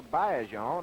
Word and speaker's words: Baillargeon: We know Adrien Baillargeon, or Baillargeon, as he tells me the correct pronunciation is.